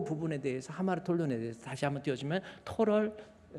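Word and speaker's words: ἁμαρτωλῶν: 알파에다가 이게 스트레스가 감기식이 있고 약기식이 있어. 이것을 거꾸로 스트레스를 이렇게 주잖아요. 액센트를 이렇게 주면 이것을 발음이 하 발음 나요. 그래서 읽을 때 하마르톨론이라고 있습니다. 한번 읽어볼까요? 하마르톨론.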